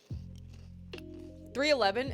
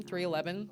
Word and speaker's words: 311: know maybe that's me 311 is that how you pronounce the band's name 311 it's not 3-1-1 banander you like the